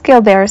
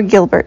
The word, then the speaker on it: Gilbert: the body all right what is gilar syndrome or Gilbert Syndrome depending on how you pronounce it okay if you said